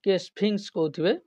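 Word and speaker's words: Sphinx: ইজ a famous statue ওকে স্পিনেক্স উচ্চারণ স্পিংস ওকে উচ্চারণ very করি পারে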